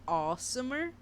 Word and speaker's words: asomer: or not spelled but it's supposed to be pronounced like awesomer like awesome but uh awesomer like literally within the